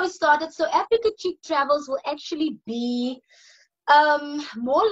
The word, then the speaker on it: Africa Chick: with ideas, that's how Africa Cheek Travel started. And it's spelled as A-F-R-I-Q-K-A. So it's that Africa, and chick is like C-H-I-Q. So yeah, so that's how it started. So Africa Chick Travels will actually be